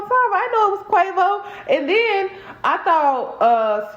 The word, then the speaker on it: Quavo: i understand guys that i was pronouncing quavo well no i didn't care no his name is quavo but i was saying quaggo i thought his name